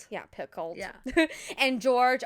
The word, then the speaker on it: Picoult: Yeah, Picoult.